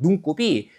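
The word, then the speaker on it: 눈곱: 그렇기 때문에 발음은 눈꼽이라고 하지만 눈과 곱 각각의 원뜻이 유지되기 때문에 표기는 눈과 곱 이렇게 하는 거고요.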